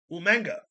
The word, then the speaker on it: Umaga: We're going to start out with Umaga. Umanga. Umanga. That's as William Regal would pronounce it.